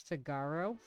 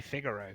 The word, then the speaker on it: Figaro: was a kid was figaro see i say figaro that's what i used to say